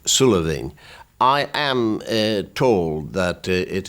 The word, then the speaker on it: Sula Bheinn: It will be pronounced in Gaelic, Sula Bheinn.